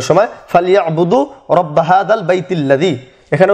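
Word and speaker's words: رَبَّ: চিহ্নটা দেওয়া রয়েছে ফালইয়াবুদু রব্বা হাযাল বাইত। রব্বা এখানে ডবল ব নিয়ে আসা হয়েছে এই জন্য যে এখানে বায়ের উপর তাসদীদ রয়েছে আরবি ভাষা, আর এই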